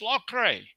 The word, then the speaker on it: Loughrey: He said, "Oh, Lorray, that comes from Ireland." I said, "Is that how you pronounce it?" He said, "Yeah, it's Lorray."